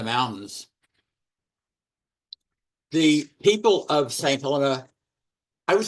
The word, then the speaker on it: Helena: We said Helena before, but it's Helena, is a British dependent territory, which is the new politically correct term for colony.